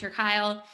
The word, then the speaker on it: Kuile: the power of ritual a book by casper kyle um and then we will also share that's